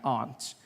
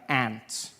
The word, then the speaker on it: aunt: For instance, I pronounce the opposites of uncle as aunt. I say my aunt. Out here you say my ant, which to me is an insect, which made me look